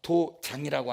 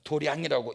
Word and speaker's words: 도량: 우리 가끔 가다가 한문을 갖다가 도장이라고 하니까 이건 도량이라고 읽더라고요.